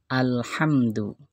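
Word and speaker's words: الحمد: bacaan alif lam qamariyah kalimat yang pertama alhamdu ya alhamdu ada alif lam lamnya dibaca jelas ciri-cirinya lamnya Sukun dan sesudah alif lam ada huruf alif lam qamariyah yaitu huruf ha contoh yang kedua alalamina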